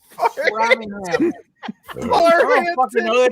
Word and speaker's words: Framingham: So oh, is it Farhampton? it's Framingham.